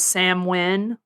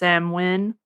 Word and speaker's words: Samhain: it's a pagan holiday it's also known as samwin even though it's san it's written as samhain but no i've learned it's pronounced samwin okay damn i did not know that i